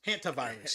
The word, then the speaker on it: hantavirus: But I want to talk about this Havana virus, hantavirus.